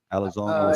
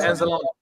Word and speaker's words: Anzalone: Because you know what our Alex Alazone, our middle linebacker, one of our linebackers said, I might have said his name wrong. Alazone. Anzalone.